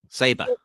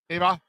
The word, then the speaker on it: Sabre: Sabre. Sabar. Okay. Sabar. I would hear it both ways as I'm actually being serious.